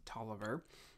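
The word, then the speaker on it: Taliaferro: 1500 men including William Tolliver an interesting figure while the name is actually pronounced Tolliver it is spelled talifiero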